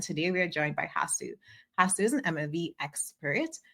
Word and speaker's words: Hasu: can't claim that it has one pronunciation. But yeah, Okay. Hasu is how I would imagine it in my mind.